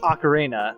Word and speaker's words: ocarina: And then I have a conch ocarina, which I never pronounce right, but I'm calling it an ocarina.